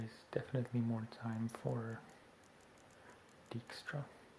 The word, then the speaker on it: Dijkstra: Okay, and there is definitely more time for Dijkstra, or Dijkstra, as it's pronounced in Dutch.